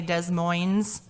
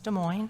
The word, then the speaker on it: Des Moines: my bad i apologize some people not from iowa would probably say des moines and it's not it's des moines so it happens if